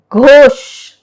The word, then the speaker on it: Ghosh: H is silent when the word begins with G-H. Ghosh, G-H-O-S-H, Ghosh.